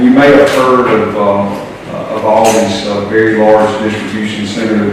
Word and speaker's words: Aldi: Is it Aldi or Aldi? Aldi.